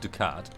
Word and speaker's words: Dukat: Not only that, his name is, he calls himself Dukat, and everyone knows that that is pronounced Ducat.